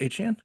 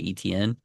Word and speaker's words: Etienne: Is it really pronounced Etienne? Yeah, yeah. So he Came said out like that okay. that's how it's pronounced.